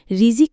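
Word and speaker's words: رزق: ইসলামের আলোকে রিজিক কেবল ভাত কাপড় নয়। বরং জীবনের প্রতিটি নেয়ামত, প্রতিটি আশীর্বাদ, প্রতিটি কল্যাণ যা মানুষকে আল্লাহ দান করেন সবই রিজিক। রিজিক একটি আরবি শব্দ। এর মূল উচ্চারণ রিজক এর অর্থ দান, অনুগ্রহ, উপকরণ।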